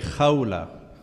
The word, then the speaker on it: Khawla: Yeah, it should be Khawla. Yes, that is correct. I mean, you are not pronouncing the name correctly, but close enough, yes.